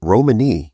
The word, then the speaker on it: Romany: And from my research, I saw, is it Romany? Is that how you pronounce it? Yeah, Romany?